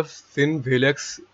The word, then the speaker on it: FinWhhalex: तो दोस्तों इसकी अपडेट मैं आपके साथ ऑलरेडी शेयर कर चुका हूँ एंड सॉरी फॉर मैंने थोड़ा सा इसको गलत प्रोनाउंस किया, फिन वेलेक्स ये इसका नेम है।